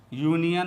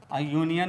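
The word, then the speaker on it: union: समझना चाहिए दोस्तों यहां यूनियन और अंब्रेला पर विशेष ध्यान देने की जरूरत है क्योंकि दोनों का शुरुआत यू से हुआ है यूनियन में यू का उच्चारण य हो रहा है और अंब्रेला में में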